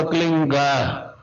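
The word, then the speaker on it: क्लीं: एक शब्द क्लीन शब्द क्या आधा ला में मिला हुआ, बड़ी की मात्रा और बिंदी, उसका उच्चारण होगा क्लीन गा। गा की ध्वनि निकलेगी पीछे।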